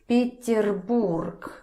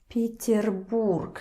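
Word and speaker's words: Петербург: city so incredibly beautiful so stress first let's put stress here again let's remember the previous rules you don't say These are not stressed. So they turn a little bit quieter. They turn to E. E. Peter Borg.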